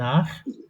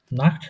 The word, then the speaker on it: nach: Ich না উচ্চারণটা ঠিক করে। Ich gehe nach Deutschland. বলেন তো একবার ich gehe nach Deutschland. Nacht না nach.